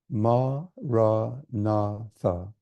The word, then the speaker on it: Maranatha: Ma, ra, na, tha.